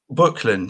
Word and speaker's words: Böcklin: Am I pronouncing this right? Böcklin? Böcklin, yes, very good.